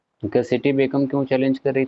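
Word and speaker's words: घसीटी बेगम: सी line लगी थी एक नाम आप लोगों ने सुना होगा गसेट बेगम जल्दी जल्दी में इस नाम को जनरली प्रोनाउंस करते हैं लोग घसीट बेगम ठीक है ये आपके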